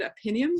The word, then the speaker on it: Opinium: poll in the UK by a company called Opinium, so that's how you pronounce them, that says that 48% of our